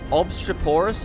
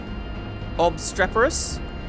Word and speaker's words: obstreperous: do we say this obstruporous note what is that word obstruporous obstreperous actually i think that's how we say it right obstreperous cur